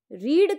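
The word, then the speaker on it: read: Okay, तो simple past में रीड का सेकेंड फॉर्म लिखा तो ऐसे ही जाता है रीड, लेकिन इसका प्रोनाउंसिएशन क्या हो जाता है? रेड।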